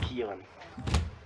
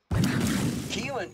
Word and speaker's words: Kalyn: a sister uh Kalyn it's spelled Kalyn pronounced Keelan yeah that's right Keelan Keelan seem to really